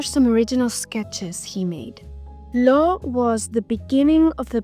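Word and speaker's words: L'Eau: Innovative at that time law means water and it's pronounced like the letter O which also contributes to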